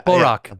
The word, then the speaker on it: Barack: Barack.